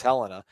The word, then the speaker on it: Helena: helena attaboy attaboy helena i thought it was helena when i first moved there but it is helena yeah let's keep this